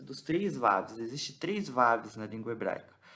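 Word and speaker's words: ו: Existe o Vav, que está em preto, porque ele é o Vav consonantal, ou seja, ele tem som de V. Esse Vav aqui, que está em preto, ele tem som de V de vaca.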